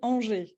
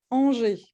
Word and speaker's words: Angers: So yeah, it's actually Angers. Angers. Yeah. All right. Say, will you please repeat? What did you say? Angers. So a lot of On- letters that you don't pronounce, like On- a lot of words in France.